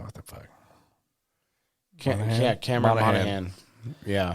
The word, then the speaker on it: Monaghan: Yeah, Cameron Monaghan. Yeah. The G is silent.